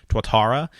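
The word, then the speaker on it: Tuatara: podcast had talked about the SSC twara I think is how you pronounce that that is Shelby supercar's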